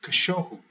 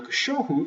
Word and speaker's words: cachorro: Now, cachorro, if we use the little clapping system, cachorro, that is 3 syllables or 3 beats. Now, if we use this rule, the second to last one, that means that we count back 2, and that middle one is the one that gets the stress.